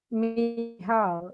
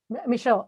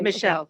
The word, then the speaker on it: Michal: So, it's Michal, right? What's Michelle, the yeah. proper way to pronounce it? Michelle. Oh, okay. Michelle.